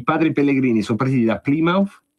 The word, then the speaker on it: Plymouth: Che non si dice Plymouth, come dico io. Se dico Plymouth capiscono subito che questo è spaghetti e si adeguano, ma è Plymouth.